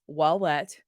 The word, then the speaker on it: Wallet: It's like wallet with a cheesy French accent.